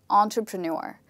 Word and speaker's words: entrepreneur: This word is actually pronounced as entrepreneur.